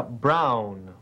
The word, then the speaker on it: Brown: Se pronuncia Brown. Oh, Brown. B-R-A-U-N. No, señor Pérez. Se deletrea B-R-O-W-N. Brown.